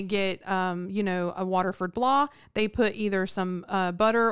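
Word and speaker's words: blaa: And we should point out that blah is spelled B-L-A-A. Yes. Yeah, so you pronounce it blah, but it's like blah.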